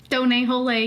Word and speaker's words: Donut: It's pronounced Done, sir. Hole. Done, hole. Get it right.